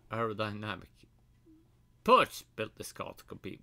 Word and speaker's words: Porsche: Perch built this car to compete with the mighty Fred GT50.